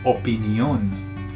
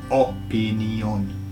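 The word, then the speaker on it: opinión: So can you see in the Spanish version it's opinion. So the emphasis goes on the last O.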